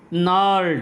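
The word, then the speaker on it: gnarled: Twisted मुड़ी हुई, bones हड्डियाँ, रिसाइटिंग दोहराते हुए, फादर्स नॉर्ड, देखिए नॉर्ड में जी साइलेंट है, जी को नहीं पढ़ेंगे।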